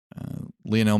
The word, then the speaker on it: Lionel: Lionel Messi, arguably the greatest soccer player in the world.